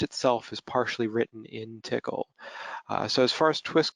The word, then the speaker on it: Tcl: help so first off what is tickle and this that is the official prison the official pronunciation that the they use for that language it stands for tool